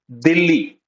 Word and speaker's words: Delhi: so you I'm say you can call it Dei also it is also sometimes written like this Dei you can write the like this or the more appropriate pronunciation is Dilly they okay and you